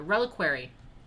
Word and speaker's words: reliquary: i figured out how to say it the reliquary it's a reliquary arm of saint valentine so